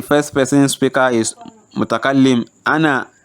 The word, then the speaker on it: أنا: Also remember that ana is always pronounced as ana without the alif.